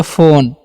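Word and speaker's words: phone: पी एच से फ होता है और ओ है तो ओ की मात्रा देंगे और एन से न लिखेंगे। और लास्ट वाला इ का उच्चारण नहीं करते हैं यहां पर।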